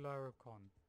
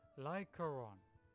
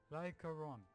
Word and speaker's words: Lycaron: And let's go straight to Lyricon. Wait, am I saying it wrong? Damn it. It's Lycaron. Lycaron.